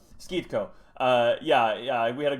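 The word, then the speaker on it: Schitco: I'm But assuming it's Skitko, but I'm not Skeetko, Skeetko. 100% That's also. right. That's right. That's right. Skeetko.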